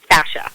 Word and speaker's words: fascia: Fascia.